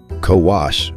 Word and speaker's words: ko-wo: Kowas means boy and Kowa means girl, exactly as Greek has them, so how did these 2 turn up on the tablets?